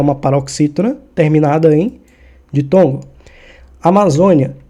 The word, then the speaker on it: Amazônia: Amazônia, ela é uma paroxítona, ou seja, tá aqui no número 2, ó. Sempre eu gosto de contar com números. A última sílaba tônica é 1, penúltima sílaba tônica é 2. E a antepenúltima sílaba tônica é o 3. Nesse caso, a sílaba tônica, a mais forte, ela está no 2, ou seja, na penúltima.